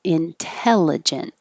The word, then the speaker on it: intelligent: started with intelligent and the reason we keep this t even though it's after the n and i've told you before we can get rid of the t after an n but not in the stressed syllable so that's why we keep it intelligent and that little mark